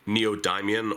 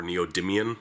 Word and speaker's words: neodymium: this yourself these are rare earth neodymium or neodymium magnets i've heard it pronounced both ways it can work with